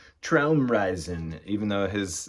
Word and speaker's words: Traumreisen: The title's pronounced Traumreisen, even though his name probably is actually pronounced Michael Rother in Germany.